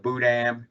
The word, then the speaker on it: Boudin: so it's actually spelled Boudin, and it would be Boo and then Dan, but without the N pronounced at the end.